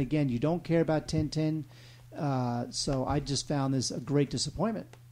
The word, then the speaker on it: Tintin: You love Tintin. That's how you say it in French, right? Yes. Tintin. Yes, that's right.